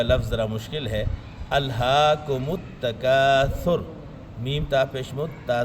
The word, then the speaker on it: التکاثر: التکاثر کہہ دیتے ہیں۔ الہاکم التکاثر کہنے میں سین آ جاتا ہے، تو اصل تلفظ سے کیا ہے؟ التکاثر۔ یہ جو سورہ مقدسہ